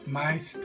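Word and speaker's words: Meister: 마이스터. 스승을 마스터로. 마스터라는데 지금 이건 영어식 발음이고 우리 독일어식으로 하면 마이스터죠.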